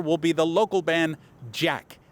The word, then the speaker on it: JATK: One band taking the stage this year in particular will be the local band JATK, J-A-T-K. The T is silent.